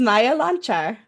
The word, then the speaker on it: Maja Loncar: Joining me next for our series of Women in WordPress is Maja Loncar. Maja, how are you? Well, I feel great because you're the first person who pronounced my name properly.